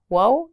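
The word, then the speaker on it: و: Wo and yet. First, let's start with wo. This letter sounds like the English U in the word tune. It should be pretty easy to pronounce.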